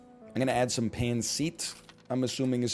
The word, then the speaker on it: pancit: I'm gonna add some pancit. I'm assuming is how it's pronounced. And you know what? Some mapo tofu. Just a nightmare menu. Oh, there's beef Wellington on there? Next time. It's pancit.